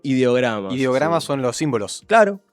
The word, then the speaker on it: ideogramas: Eh, esa palabra que dijiste ideiogramas son ideogramas.